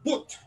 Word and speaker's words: but: This is called boot. Put. How boot, do you spell that?